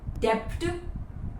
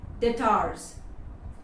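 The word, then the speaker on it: debt: next word डेप्ट डेप्टार्स नो इट्स डे डेटार्स डेट डेटार्स द बी is silent here again जैसा ही तम में B silent है Plummer में B silent है वैसा ही डेप्ट मे बी बी साइलेंट है डेप्ट नहीं डे the amount that you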